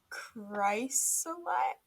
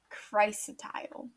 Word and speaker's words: chrysotile: Oh, I was saying it wrong. I was saying it so wrong. Okay. It's chrysotile.